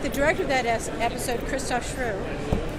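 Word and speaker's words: Christoph Schrewe: came in and with the director of that episode, Christoph Schru, whose name I know I'm Shriva. mispronouncing. Christoph Shriva. Looks like Shrew.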